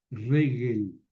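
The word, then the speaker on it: רֶגֶל: Regel, pie. Ojo con el acento en la primera sílaba.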